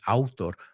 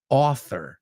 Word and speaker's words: author: Vamos a pronunciar esa, no es autor, author.